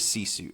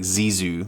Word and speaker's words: Sisu: yeah number three is sisu s-i-s-u I always have to spell it out because it sounds like I'm saying like zizu like Zuzu pedals or something which is a